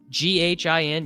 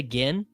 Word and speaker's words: GHIN: Ghin? You just say gin? You don't say gin? What do you guys say? Ghin. Gin or gin? I guess I said it wrong. Ah, okay. Gin like the drink.